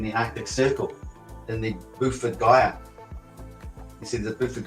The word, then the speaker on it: Beaufort: And how did he pronounce it? Well, he got Gyre right, but what he called it Buford. Buford Gyre. It's Beaufort.